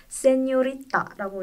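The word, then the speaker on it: señorita: 그게 정확히는 N의 발음을 살려서 세뇨리타라고 읽어요.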